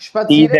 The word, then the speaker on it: spazieren: नहीं नहीं प्रोनाउंस हो रहा। स्पासियरन, स्पासियरन, Spazieren. स्पत्सीरन, सीध स्पत्सीरन है।